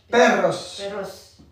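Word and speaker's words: perros: Maria son sous peros attention à la prononciation peros peros peros très bien très bien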